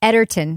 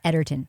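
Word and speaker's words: Egerton: Taran Edinson's character there I learned that it's pronounced Edertton. Edertton. Oh, all right. As that's that's the way that he that's way pronounced cuz he's Welsh and they pronounced it Ederton.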